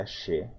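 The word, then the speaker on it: che: pronomes pessoais em Guarani Chê essa palavra se pronuncia Axé como se fosse com SC é eu um de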